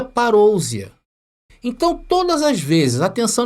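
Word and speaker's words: παρουσία: vida então ali está no original em grego se pronuncia parousia então todas as vezes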